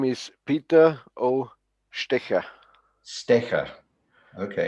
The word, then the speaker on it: Stetcher: name is peter oh sticker sticker okay it's more more like a shh like uh you know sicker okay and the o